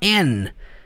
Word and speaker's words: and: de ontem né que quando você usa o termo and na maioria das vezes você não cita o termo a letra d na pronúncia dessa palavra você fala and é igual quando eu